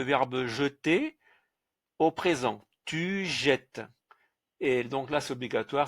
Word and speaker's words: jettes: Tu jettes. Et donc là, c'est obligatoire, c'est la conjugaison. Donc le S ici, on ne le prononce pas.